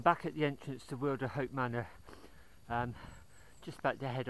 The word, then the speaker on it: Wilderhope: she sort of said some people Wilderhope, others Wilderhope. She said most of the locals call it Wilderhope. Seems more natural to me. I find that easier to pronounce, so it's Wilderhope as far as I'm concerned.